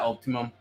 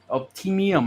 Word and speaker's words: optimum: you think of that Optimum optimium how do you say it man optimium it's optimum optimum optimum optimum optimum yeah almost like Peak Performance Optimum performance yeah optimum optimum got it